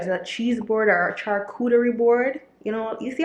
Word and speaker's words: charcuterie: how I pronounce that I usually say coochie but I'm growing okay I'm becoming more cultured so instead of coochie's charcuterie like I learned how to pronounce it so I'm gonna get